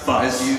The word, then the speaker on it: Fuchs: Chris Parnell, who unfortunately couldn't join us today, will be playing Siegbert Fuchs, but it's pronounced Fuzz.